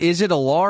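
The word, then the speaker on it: Allar: Is it Alar or Aller? Which one is it? I still don't know. I think it's Aller, but again, I've watched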